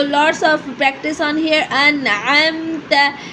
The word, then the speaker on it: أنعمت: أنعمت pronounced an. The sound is an. The hamza sound will be clear. It will be clear. Then go to the ain sound then mix then add to two points here.